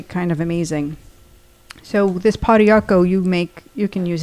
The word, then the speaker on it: pau d'arco: Um, so we are going to talk about pau d'arco tonight. And that's the nutritional tip. And it's spelled p a u space d with a little What is that?